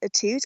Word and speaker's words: Atout: Now, ever since I was a kid, I've always said it as Atout. Apparently, there's some like French background to it somewhere deep down in my background, but Okay. I don't do the fancy Atout pronunciation. I just do Atout.